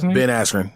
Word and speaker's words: Askren: right against uh who been at aspirin is how you say ben askren the uh the former